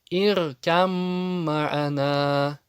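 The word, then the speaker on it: ارْكَب مَّعَنَا: То есть Б превращается в мим по определению идгама. Здесь полный идгам. Иркам ма'ана. Б не произносится. Почему? Потому что она превращается в ту, которая с таждидом. Иркам ма'ана.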